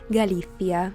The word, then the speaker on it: Galicia: In Spanish, it's Galicia with your favorite little Spanish lisp.